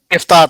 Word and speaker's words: Iftar: दूसरा जो है, ये आपकी जो इफ्तार पार्टीज होती हैं, एम I pronouncing it right? इफ्तार parties, Yeah. Iftar parties.